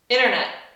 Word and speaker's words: internet: Sempre que tem N-T, geralmente dentro da palavra o T some.